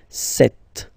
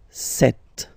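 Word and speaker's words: sept: Then here, remember, P is not pronounced, okay? It doesn't exist, so you get this set sound, set, set.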